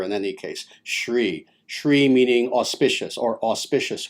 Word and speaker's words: Sri: of which is the term sri sri or sometimes shri pronounced as the latter in any case sri sri meaning auspicious or